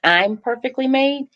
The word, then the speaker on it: IMperfeKtlymade: say this that the the pronunciation for the foundation it's I'm perfectly made I am uhuh so